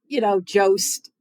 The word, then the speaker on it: Jost: And, Jost, there's a reason why his last name rhymes with roast.